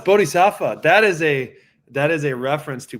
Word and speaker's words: Bodhisattva: How the fuck do you pronounce that name? Bodhisattva. Yeah. It's Bodhisattva.